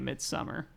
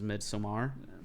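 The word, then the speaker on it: Midsommar: came out in theaters a lot of people are calling it midsummer but technical pronunciation is mid some are but you can call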